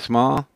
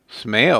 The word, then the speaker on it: Smail: Gill crucial in ski Jansen's Eric Weinrich Doug small Smail oh man almost put small in there that's